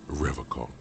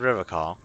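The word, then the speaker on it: Revachol: one is you said river car i like to pronounce it the hard way the old way the vespertine way that's all he winks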